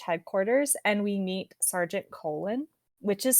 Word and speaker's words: Colon: Vimes leaves for the Night's Watch headquarters and we meet Sergeant Colon, which is spelled like a colon.